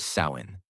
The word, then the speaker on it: Samhain: And the most powerful day of the year was October 31st, the night of the festival called Samhain, pronounced Samhain.